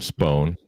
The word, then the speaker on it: Spohn: know bill spone you pronounce his last name spone thank you don't pronounce it that way he will smack you